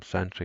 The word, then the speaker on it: Sentry: a while the name comes from century as in security peer for peer-to-peer i spent a lot of time on wikipedia looking at the words security and coming up with that um basically a two-syllable first word and one syllable second word um it's a side